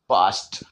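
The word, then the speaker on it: past: जानकारी दे दू तो यह रूल नंबर फाइव कहता है ए के बाद एसटी और एस के ए के बाद अगर एसटी और एस के जस्ट आ जाए तो वहां भी हम आ बोलते हैं जैसे पी ए एस टी पास्ट पी ए एस टी पास्ट आ का उच्चारण यहां पर करना है बी ए एस के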